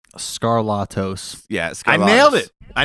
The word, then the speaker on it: Skarlatos: it like tbec TRC what is the exact pronunciation of the last name scarlatos yeah scar nailed it I nailed it dude